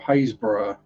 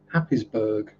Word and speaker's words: Happisburgh: So I mean, places like Cossey or Tacklestone or Haysborough, they aren't spelt like they're pronounced. So you'll have people saying Costasey or Tackleneston or Happisburgh. And Stookie, well, that's that's just stiff key.